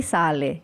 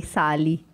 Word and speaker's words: sale: pronúncia e naquela oportunidade eu ouvi o ens Sale só que eu não falei Sale eu falei sali e eu lembro que